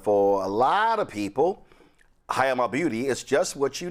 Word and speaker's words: Hayama: So, all right, first of all, did I pronounce this correctly? Yes, you did. Okay. Hayama Beauty. Hayama.